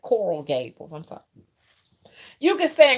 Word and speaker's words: Coral Gables: You can go and live in Clark and what you call Carol Gables. Is that right? Am I saying it right? Coral Gables.